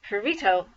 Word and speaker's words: Perito: Some people couldn't say his name right because you have to kind of roll your tongue to say the sound of the two R's together.